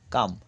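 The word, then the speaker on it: calm: চেটো এল এর উচ্চারণেই সি এ এল এম কাম অর্থাৎ এল এর উচ্চারণে মানে শান্ত তারপর হচ্ছে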